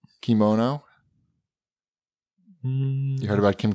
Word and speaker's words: kimono: Anytime you see K-I, it's key.